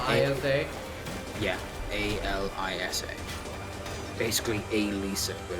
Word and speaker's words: Alisa: A L I SA. Basically Alisa, but it's Alissa. Oh, it's a L I Yeah. a Lisa, but it's pretty much pronounced Alyssa.